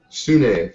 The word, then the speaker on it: Sune: Sune, thank you for the pronunciation. Accent on the E.